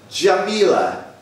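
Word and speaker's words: Djamileh: Jamila. I'll spell that for you.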